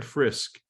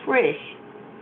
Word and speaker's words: Frisch: Is it Frisch or Frisk? No, it's Frisch.